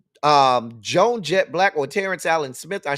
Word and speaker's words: Blakk: And that Black is spelled Blakk.